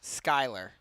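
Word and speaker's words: Schuyler: avoid an offsides call offloaded to Sher freck Skyler excuse me spelled s c hu y l e r but pronounced Skyler whoa heads up Charlie his Ball's coming over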